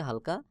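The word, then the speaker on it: ه: ফাঁকা থাকবে, বাহিরের দিকে হালকা বাতাস বের হবে, যেমন ওয়াও ওয়াও ওয়াও। এরপর রয়েছে হা। হলকের শুরু হইতে হা উচ্চারণ হবে, হলকের শুরু হইতে। হা এবং হামজা দুইটা হরফ একই জায়গা থেকে উচ্চারণ হয়, যেমন হা আমজাহ হা আমজাহ।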